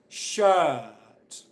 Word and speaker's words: shirt: words nurse work shirt do you hear me pronouncing the R sound yes or no okay I'm not pronouncing the R sound Jenny you got an excellent okay Jenny got the points that's really good of but I'm just going to finish explaining this point I don't pronounce the R sound in any of these words why not and what I'm